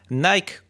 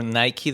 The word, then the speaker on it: Nike: Nike, or Nike depending on how you pronounce it, it's one of the most famous brands in the world.